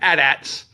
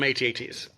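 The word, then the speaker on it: AT-AT: of me uh because when I was a kid I called them adats um that's just how you pronounced it back in the 80s we didn't know any better I guess or maybe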